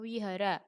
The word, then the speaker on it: Vihara: ibadahnya namanya Vihara tapi biar tulisannya itu aslinya Vihara Tapi bacanya Wihara kitab sucinya Tripitaka hari